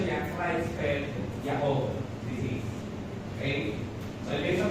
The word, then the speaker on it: Creutzfeldt-Jakob: Pero ang pronunciation niya, Creutzfeldt-Jakob disease.